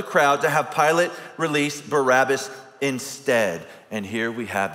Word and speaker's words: Barabbas: It's not Barabbas at all. I'm talking about his last name, if you will. It's actually Bar hyphen Abbas.